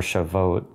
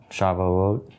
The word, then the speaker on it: Shavuot: refers to Pentecost or shavod Shavuot is how you say it um but yeah so